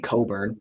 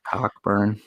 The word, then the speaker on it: Cockburn: you know they got kofi coburn how the announcers say his name anyway cockburn yeah uh he they